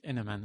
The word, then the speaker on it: Heneman: Tu le prononces comme ça, hein? Oui, Henneman, oui.